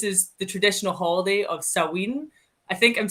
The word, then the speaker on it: Samhain: Okay, because it's spelled Samhain, but its pronunciation varies place to place.